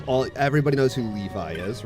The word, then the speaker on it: Levi: on Titan and um he kept pronouncing Levi Levy like as in like Levy or from like Fairy